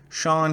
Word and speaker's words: Cean: September 13th, 2019 is when Sean comes out, and it's spelled Cean.